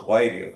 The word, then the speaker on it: Whitty: I've never, and then mine's spelled Whitty, but it's pronounced Whitey.